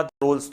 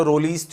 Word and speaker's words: Rolle: Now, इसको जब pronounce करने की बात आती है तो कई जगह आप देखोगे ई को गायब कर देते हैं और वहाँ पे बोला रोल्स थ्योरम. कुछ लोग इसे कहते हैं रोलीज थ्योरम.